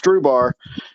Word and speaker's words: Strubhar: So we just say it's Strubhar, kind of like rhubarb, but it's just Strubhar, and like straw and a bar, basically. So it's Stru and bar.